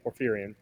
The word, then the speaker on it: Porphyrion: Uh, How do you so pronounce it? uh, Acastus Knights Perforon or Porphyrion, yeah, Porphyrion.